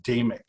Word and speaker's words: Damick: introduce myself is that my last name is pronounced damic d I will try